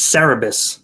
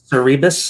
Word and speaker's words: Cerebus: i talked about it i got the pronunciation pronunciation wrong it's cerebus the aardvark where were you calling it the rebus i don't know because i thought cerebral cerebral